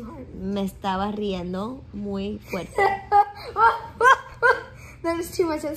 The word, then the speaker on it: fuerte: Me estaba riendo muy fuerte. That is too much at the same time. Me estaba riendo muy fuerte.